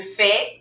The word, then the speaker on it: fais: Es cuando es yo es je fais avec S. Y cuando es il, Tilou, il fait con T. La pronunciación es igual, c'est la même. Il n'y a pas de différence, no hay diferencia.